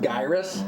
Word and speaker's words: Gyruss: I'm enjoying it it's pronounced gyus is it all right gyus I'm still going to say gyrus it's like a ninja giden ninja ninja gayen all that kind of stuff